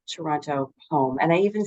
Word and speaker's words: Toronto: do have to start pronouncing it as Toronto there's no T at the end oh right Toronto sorry so we're clear